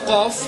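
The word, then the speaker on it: قاف: En deze qaf komt hier uit je keel.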